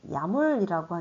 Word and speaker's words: YAML: 우리 config, config.yml, 즉, 야물이라고 읽을 텐데요.